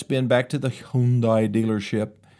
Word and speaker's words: Hyundai: Okay, back to the defective Hyundai. Rhymes with Sunday.